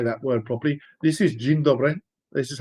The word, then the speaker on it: dzień dobry: And just to show that for those that say, do you really know how to say that word properly, this is dzień dobry, This is how it's written in Polish.